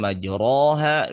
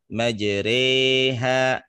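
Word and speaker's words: مجريها: yang rada berbeda misalkan tulisan majroha bacanya majreha ya atau misalkan dengan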